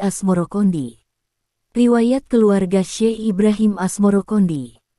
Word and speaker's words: Asmoroqondi: Sebutan itu mengikuti pengucapan lidah Jawa dalam melafalkan As-Samarkandi, yang kemudian berubah menjadi Asmorokondi.